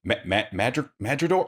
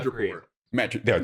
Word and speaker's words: Madripoor: And again, I've learned to not expect too much, but we know that Madripoor. Oh, I'm saying the name wrong. The island, the mutant island. Madripoor.